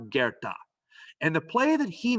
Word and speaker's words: Goethe: it should be pronounced goethe it's not it's german and it's pronounced gerta and the play that